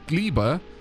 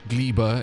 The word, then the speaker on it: Gleba: same um spelling but the pronunciation of gleba is close enough to Glee you could go gleber if you wanted to it's kind of